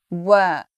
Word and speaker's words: work: So I'm just saying So let's go back to that word that so many people mispronounce when they're speaking English. The word is work.